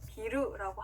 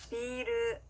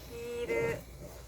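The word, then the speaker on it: ビール: 중간에 장음이 들어가는데요. 장음이 없이 비루라고 하면요 빌딩이라는 뜻의 단어가 됩니다. 그렇기 때문에 꼭 맥주를 얘기할 때는 중간에 장음으로 길게 늘려서 발음을 해주셔야 되는데요. 같이 연습해 볼게요. 비르, 비르.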